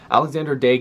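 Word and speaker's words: Alexandre Daigle: or Alexander again I've heard both ways it's pronounced Alexander dake 1993 first overall to the Ottawa Senators I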